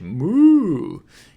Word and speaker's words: む: Two strokes One, two む is pronounced like what cows say in English: “moo” In other words, it